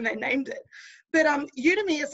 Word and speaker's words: Udemy: do you pronounce it udemy it's like a really strange word isn't it you to me it's like an online